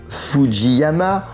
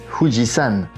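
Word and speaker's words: 富士山: The correct pronunciation is "Fuji San", as for all the names of mountains in Japanese, since the last character has this meaning.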